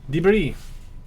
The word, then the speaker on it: debris: this juggernaut of um debris the thing is why put an s in it is silent you know um i